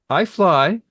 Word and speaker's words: iFly: uh and finally um I fly FSX said I had to wait almost five seasons to get iFly pronounced like iMac iPhone I didn't correct you